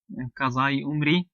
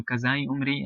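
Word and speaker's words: Qaza-e-Umri: Therefore, in Urdu, they have this, it's called Qazai Umri, as it's instead of Qada. Obviously, the dad is pronounced like a za. So Qazai Umri, and how it's termed,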